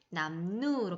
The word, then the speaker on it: 남루: 그래서 미음, 이응과 니은으로 미음, 이응을 만나면 리을이 니은으로 바뀌게 됩니다. 남루 같은 경우에는 남누로 발음이 되고요.